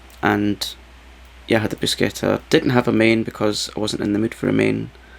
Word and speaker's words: bruschetta: So I had bruschetta, pronounced with a hard C, not bruschetta. It's not a brush, it's bruschetta.